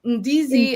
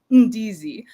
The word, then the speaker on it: ndizi: So ndizi is the Kiswahili term ndizi, and you kind of like say it from your chest, ndizi.